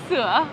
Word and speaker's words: Sữa: Sữa. Sữa. Sữa. Sữa. It's Sữa. milk, right? Sữa. Đúng. Why have to go like the? Sữa. Tại vì nó có dấu ngã là ữa.